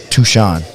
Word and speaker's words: Touchon: Touchon. That's what I said. Like you say, Sean.